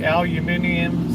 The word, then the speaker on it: aluminium: people call it multimeter some people call it aluminium some call it aluminum right some call it